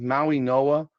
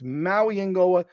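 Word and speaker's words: Mauigoa: It's really aggravating to me that unless Francis tells me his name is Maui Noah, I'm gonna go by what everything says because he's never said his name is Maui Noah.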